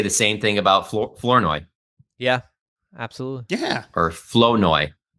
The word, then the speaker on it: Flournoy: Like the R is silent. Like it's at like SoFi, Flournoy. At SoFi, they were saying it flower nye or something in the press box.